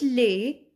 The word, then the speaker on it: les: We put les, S is silent, we put les before the plural name.